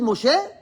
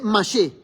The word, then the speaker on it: Moshe: Y en vez de decir Moshe, dice Mashe.